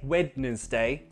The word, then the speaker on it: Wednesday: We don't say Wednesday, no, Wednesday.